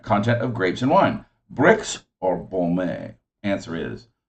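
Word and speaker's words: Brix: the sugar current content of grapes and wine bricks or boulmer answer is bricks b-r-i-x that is correct bricks bombay is a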